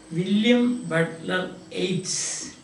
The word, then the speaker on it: William Butler Yeats: Now the poem, the ballad, is written by William Butler Yeats. Pronunciation is Yeats, not Yeats.